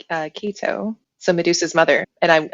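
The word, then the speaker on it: Ceto: I actually really enjoyed There's different ways to say her name, but I say Kito.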